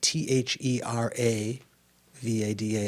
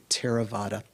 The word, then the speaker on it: Theravada: it a theravada right that th is just an aspirated t so it's not pronounced theraa it's terra like a aspirated t terravada um the terravada that's